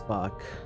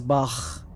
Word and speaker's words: Bach: when I heard someone say it, it was Bach.